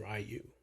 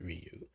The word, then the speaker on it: Ryu: And I also want to thank him for correcting me on the correct pronunciation. I was in Stref by the Mode, calling him Rayu, but it's Ryu.